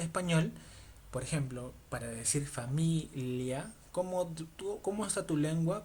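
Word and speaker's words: famiglia: Familia es familia.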